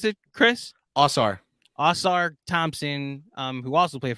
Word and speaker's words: Ausar: His twin brother How do you pronounce it, Chris? Ausar.